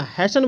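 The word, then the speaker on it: hasten: और यहां पे अगर एच ए एस टीई एन रहता है तो इसको बहुत बच्चा क्या करता है कि हेस्टन बोल देता है तो हेस्टन नहीं बोला हैसन बोलना है हमने अभी आपको क्या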